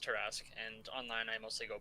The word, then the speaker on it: Torrasque: I've always called you Tora because I don't really know how to pronounce it all the way, and I've never bothered to ask because I've never met you. So that's all right. It's just Torrasque, and online I mostly go by Tor.